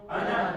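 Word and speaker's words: أنا: Ana is written as ana, but you never pronounce that alif. You just say ana, as if there is no alif there.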